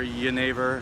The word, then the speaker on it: genever: got a chance to connect with Geneva or your neighbor however you pronounce I mean people pronounce it both ways at the seminar neither is incorrect I would imagine the original was your neighbor but you know I don't speak Dutch so just go with genever and as always I